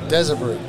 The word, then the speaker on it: Desabris: Desabris. Desabris. Say that again? Desabris. Desabris. The S is silent.